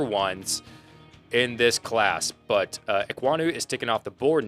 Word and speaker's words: Ekwonu: On that pronunciation. There you go. Yeah. I mean, Ike Ekwonu is his nickname, but Ekwonu.